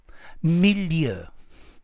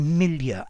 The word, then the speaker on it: milieu: But for me, with an RP accent, you need to use the French pronunciation because this word comes directly from French.